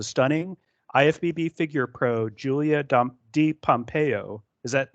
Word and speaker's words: DiPompeo: to welcome the stunning ifbb figure Pro Julia D Pompeo is that right on the pronunciation that is correct okay cool uh Julia has been competing in bodybuilding since 2016.